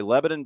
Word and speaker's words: Lebanon: Yes, not Lebanon. Lebanon is damn near one syllable.